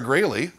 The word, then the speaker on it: Graley: we are joined by the amazingly talented gray Lee pronounced that rate is greatly not growl oh yeah yeah very good Grady's perfect excellent